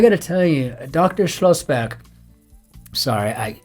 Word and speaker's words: Schlossberg: Schlossberg, sorry, I always take German names and pronounce them as if I live in Germany, which I do.